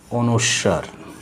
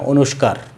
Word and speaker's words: অনুস্বার: এরপরে যে বর্ণটা আছে সেটা হলো কি এরকম, এটা হলো অনুস্বার, অনুস্বার, এটা অনুস্বার, কিন্তু শিক্ষার্থীরা প্রায় সময় বলে অনুস্কার, অনুস্কার যেন না হয়, যেন আমরা বলি অনুস্বার।